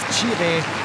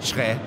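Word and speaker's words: Kyereh: Daniel Kofit Schrä, bei St. Pauli noch bekannt als Chire, hat bei seinem Wechsel nach Freiburg nochmal aufgeklärt, wie er richtig ausgesprochen wird. Ghanaisch ist Schrä richtig.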